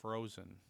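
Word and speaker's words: Phrozen: a very good quality one another brand is frozen it's spelled p-h-r-o-z-e-n and that is another good company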